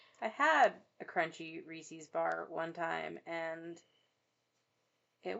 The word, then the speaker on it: Reese's: I correct people when they don't say Reese's actually because Reese's rhymes with pieces.